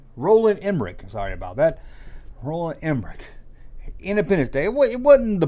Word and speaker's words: Roland Emmerich: Roland Emmerich.